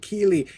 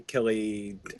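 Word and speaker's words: Kíli: being all like it should be Feely and Keely, he's like Philly, Killy. I mean, it's whatever. So actually, hearing Tolkien himself pronounce the names really like that more than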